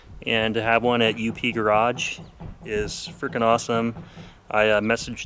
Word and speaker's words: UP Garage: It's UP Garage, not Up Garage like the company in Japan.